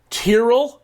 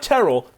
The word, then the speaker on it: Tyrrell: but do you trust Tyrrell Hatton not Terrell Tyrell Hatton anyone who pronounces his name like that I don't trust sepstraka